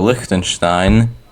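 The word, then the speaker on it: Liechtenstein: So, Likenstein, yes, that's how you pronounce it, has not a lot of meta since it's a very tiny country.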